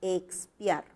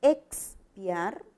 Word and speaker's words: expiar: Espiar es con S y expiar, ¿verdad? Este fonema se va a articular con 2 sonidos.